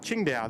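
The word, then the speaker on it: Qingdao: stands for cargo though oh there we go King D pronounced as Ching da there we go apologies Mitch new subscriber checking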